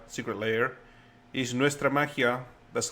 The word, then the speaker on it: Nuestra Magia: Cultures or Nalak and they're coming up with Nestra Mahia. Secret Layer is Nestra Mahia. That's how it's pronounced.